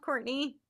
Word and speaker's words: Courtenay: So, it is pronounced Courtney, but it's spelled Cortine.